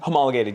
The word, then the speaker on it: homologated: Did I pronounce that correctly? Homologated.